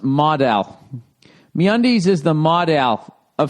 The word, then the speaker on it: modal: Note, model is pronounced modal.